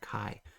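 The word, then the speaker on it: 卡: You pronounce that kai.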